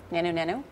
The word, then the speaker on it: Nanu Nanu: Nanu Nanu. God bless you. You pronounced it correctly. A lot of times people will say, like, diddy diddy, zooty zooty.